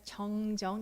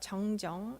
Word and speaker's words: 정정: It says 정정 in Korean, which pronounced the same but has two different meanings from the Chinese characters.